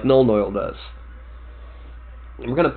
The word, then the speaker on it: Nuln Oil: similar to the legendary Nuln oil, or as some of my friends like to call it, because they heard me say it once and couldn't get the mispronunciation out of their head, gnome oil.